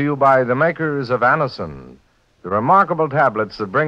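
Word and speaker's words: Anacin: This program is brought to you by the makers of Anison, the remarkable tablets that bring incredibly fast and effective relief from the pain of headaches, neuritis, and neuralgia.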